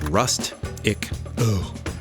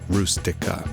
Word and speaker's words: Rustica: Fiat 127 called the Rust-ic-O, or Rustica, as it's pronounced in Italian.